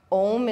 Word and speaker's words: Om: Om. The M is always the longest, and there's always a silent syllable after the Om, which connects your vibration to all the vibration around you.